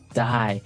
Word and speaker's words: dye: you're dying it okay die so it's pronounced exactly the same way as you know to die to not live anymore die but it's spelled